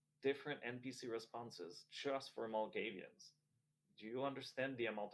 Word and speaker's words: Malkavian: It's Malkavian. Oh, is that how it's pronounced?